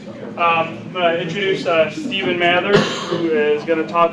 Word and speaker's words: Stephen Mather: I'm going to introduce Stephen Mather, who is going to talk about, what do you put here is OSM Awesome Botnet Communications. And Stephen Mather is am I pronouncing that right?